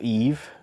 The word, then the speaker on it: Eve: is Little Eva or Eve well pronounced it Eva but her name is actually Eve number 14 o I